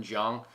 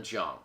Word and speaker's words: Xiong: Next guy is Norman Zhang. I think that's how you say it. Xiong is how you spell his last name. Norman Zhang.